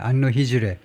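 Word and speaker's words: Anno Hegirae: AH는요. 안노해즈레 앤노 앤노히 정도일 겁니다. 발음이야. 안노 히즈르.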